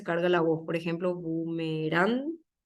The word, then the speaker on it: bumerán: la voz por ejemplo bumerán es aguda carga la voz en la última si se paro sílabas